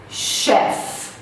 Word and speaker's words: chef: Chef, chef, que é o cozinheiro, o chefe. Então a gente não fala chef. Existe o chief, que é o my chief, my boss. Mas chef de cozinheiro é uma exceção.